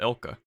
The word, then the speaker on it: ILCA: I mean, this is the first one developed by Ilka, or ILCA. Y'all better pronounce it Ilka.